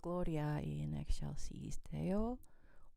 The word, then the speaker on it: Gloria in Excelsis Deo: I think most people don't pronounce this in Latin, but you're supposed to pronounce this in Latin.